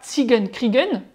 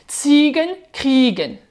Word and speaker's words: Ziegen kriegen: Siegen Kriegen, pardon, donc c'est pas Siegen Kriegen avec le EN accentué, non on accentue la première syllabe. Ziegen kriegen, Ziegen kriegen.